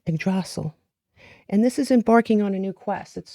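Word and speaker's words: Yggdrasil: Um, you have uh let's see if I could pronounce this correctly. Okay, Idrasil. Idrasil.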